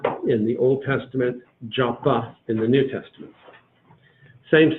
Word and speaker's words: Jaffa: With a dot in the middle of it, it's pronounced like a P. Without a dot, it's pronounced like an F. So you find it both ways. But Jaffa in the Old Testament,